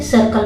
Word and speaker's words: circle: जाता है, जैसा कि सर्कल में देख सकते हैं। सी के बाद आई है तो इसको स, लेकिन सी के बाद अगर एल उसको क, सर्कल।